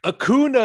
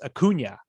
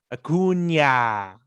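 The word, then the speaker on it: Acuña: and he was like akuna is better than you akuna and bryce had to turn around and correct him and it's like that's not how you say his name it's acuna akunya it's not hard i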